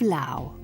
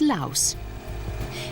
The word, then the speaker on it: Laos: French Empire in Indochina it was the French who added the letter S to the country's name meaning that it's often mispronounced as Laos in 1953 the Franco Lao treaty granted full independence